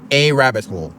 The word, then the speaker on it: arabbitshole: And in my opinion, I don't think it's that hard, but just to emphasize this is a rabbit hole. It's all one word.